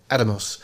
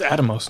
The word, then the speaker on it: Atomos: I always say it wrong, but that seems to be the way they say it. Atomos. It's Atomos, not Atomos. Yeah, Atomos.